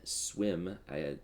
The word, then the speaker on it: Swim: Karsten Swim, that is how you pronounce his last name, by the way.